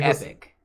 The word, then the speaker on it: epoch: Epoch changing fun thing I said Epoch at like a Meetup at one point and someone's like what what is that epic it's technically epic yeah but my brain still wants to say Epoch okay same I like I've been called out on that before too it's so hard to like not say Epoch so annoying when someone